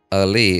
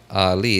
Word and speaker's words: Ali: Ali is pronounced by Arabics and Ali is pronounced by English speakers. So, in my opinion, both should work.